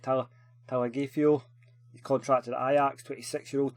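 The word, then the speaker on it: Tagliafico: And then Talagifo, that's how you say it, Talagifo.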